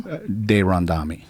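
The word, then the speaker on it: de Randamie: And how are you pronouncing her last name? De Randami. Is that how she says it? Yeah. Because everybody says Duran to me.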